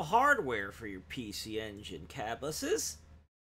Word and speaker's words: Cabbusses: You have real hardware for your PC Engine cabuses. Yeah, that's how I pronounce my own name, by the way.